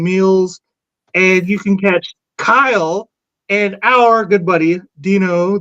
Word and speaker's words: Kyle: There's two syllables. It's a single. In there, there's not. There's one. It's Kyle. It's one syllable.